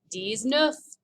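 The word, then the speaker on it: dix-neuf: guess what 19 is d is nuff you remember and then finally we get to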